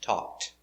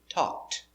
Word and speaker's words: talked: present talk in past talked pronunciation talked not talk ed talked participle talked talk is